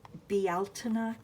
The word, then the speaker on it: Bealtaine: So it's spelled B-E-A-L-T-A-I-N-E. Bealtaine. I guess that's how you'd say it in Ireland.